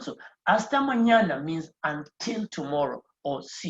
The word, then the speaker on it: mañana: So when you see that on top of N, it means it's going to be pronounced the nya sound. So hasta mañana means until tomorrow or see you tomorrow.